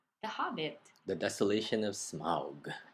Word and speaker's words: Smaug: hobbit the desolation of smog okay so that's how it's pronounced i guess how do they say